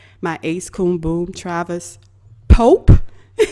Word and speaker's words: Pope: homeboy, my homie, my ace coon boom, Travis Pope. Not Polk as it's been previously pronounced.